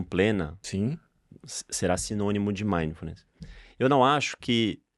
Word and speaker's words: mindfulness: formas né eu mesmo já te falei e meful mindfulness mindfulness exato Qual que é a pronúncia correta seria mindfulness mas ninguém é obrigado